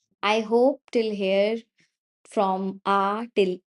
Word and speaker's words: ge: Then we have he.